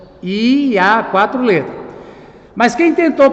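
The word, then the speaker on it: Javé: quatro letras yhwh a a pronúncia em português seria yaveh yaveh quatro letras Mas quem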